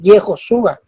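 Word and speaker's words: יְהוֹשֻׁעַ: Jesús en hebreo no se dice Jesús, se dice Yehoshua.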